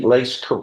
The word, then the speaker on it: Lace: Am I pronouncing Lace?